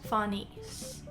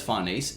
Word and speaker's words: Farnese: It's meant to be Italian, it's like Farnese. That's kind of how it's spelled. Like, if I was to sound it out, I would go Fanesse.